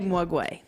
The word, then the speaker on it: Maguey: I say OK Maguey.